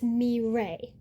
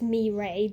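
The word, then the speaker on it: Mireille: familiar with French cuz if you see it spelled out, you're expecting there to be an L sound, but it's mray.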